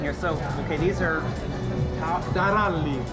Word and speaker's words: Taralli: Taralli. Taralli. How do you roll your R's? Talalli.